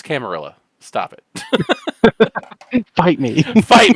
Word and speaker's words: camarilla: that's pretty spot on am I doing that backwards it is a French word not a Spanish word either way it's camarilla stop it fight me